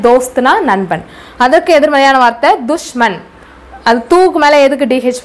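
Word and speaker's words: दुश्मन: அதற்கு எதிர்மறையான வார்த்தை துஷ்மன், அது தூக்கு மேலே எதுக்கு டிஹெச் போட்டிருக்கேன்னா து அப்படின்னு உச்சரிப்பு கொடுக்கணும்.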